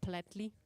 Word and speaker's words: Plättli: Shout out to the other kind of business plan judges who were offered the opportunity to enjoy a Swiss Plättli. I hope I pronounced it right.